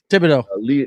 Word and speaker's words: Thibodeau: Thibodeau. Thibodeau. That's how you pronounce that. Thibodeau. Yeah. That's Leon. There's no R in there, buddy.